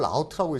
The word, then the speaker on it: route: 이걸 영국 애들은 어떻게 읽어요? 영국 애들 이걸 라우트라고 읽습니다.